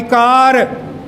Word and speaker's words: car: If it is ending ra, it's not, it's my car. It's my car. It's my car, not car.